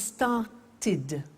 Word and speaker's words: started: if a verb ends with a T or D then the pronunciation of II D becomes it and in fact it's impossible to pronounce it any other way take an example start it becomes started started not started started okay so want becomes